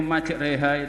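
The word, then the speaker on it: مجريها: Baca imalah artinya memiringkan bunyi fathah pada kasrah. Di Al-Quran hanya satu. Contohnya di surat Hud ayat 41 juz 12. Tepuk tangan untuk anak-anak kita. Itu majreha itu ada di surah Hud ayat 41 juz 12.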